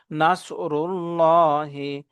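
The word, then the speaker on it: نَصْرُ اللَّهِ: ডানে পেশ আছে এখানে আল্লাহ শব্দের লামটাকে পরব মোটা করে পড়ব মুখ ভর্তি করে আওয়াজ করব নাসরুল্লাহি ওয়ালফাত ওয়ালফাত ওয়ালফাত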